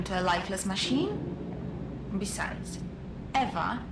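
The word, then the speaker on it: Ewa: Besides, Eva is spelled E W A, not E V.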